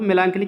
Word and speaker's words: melancholy: तो सारो SORROW मेलांकली की स्पेलिंग MELANCHOLY, CS से यहाँ का पढ़ा जाएगा जैसे केमिस्ट्री में।